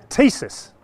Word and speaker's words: Thesis: Thesis.